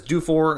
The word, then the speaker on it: Dufour: pick back in 2020 i know there's a variety of ways to pronounce his last name uh some might see it as do for and i do know people that are anglophone uh with that name and that's how they say it is due for but